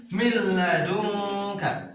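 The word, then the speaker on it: من لدنك: Berarti cara membacanya pun harus dimasukkan dan tidak ditahan. Jadi langsung aja. Milladunka. Langsung ya ini nih. Milla. Jadi tidak boleh ditahan.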